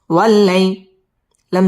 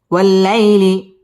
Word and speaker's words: والليل: বাম পাশে জজম ওয়ালা ইয়া লিনের হরফ তাড়াতাড়ি পড়তে হবে ওয়াল্লাইলি ইদা মধ্যে তাবাই